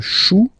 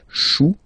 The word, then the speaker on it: chou: Then, un chou. Okay, remember, when you combine this C and H, you get the sound sh. Chou, un chou.